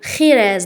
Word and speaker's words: Jerez: Particulièrement touché معناتها وبالخصوص مست la ville de خيريز. دونك لهنا راهي مكتوبه جوريز مي بالاسبانيه جي نطقوه خا.